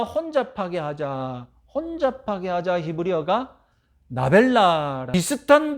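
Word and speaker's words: נָבְלָה: 혼잡하게 하자 히브리어가 나벨라. 비슷한 발음으로 여러분 개그 프로그램 보면 먼저 A가 말을 하면 B가 비슷하게 발음하면서 말도 안 되는 상황, 웃기는 그런 멘트를 이렇게 주고받지 않습니까?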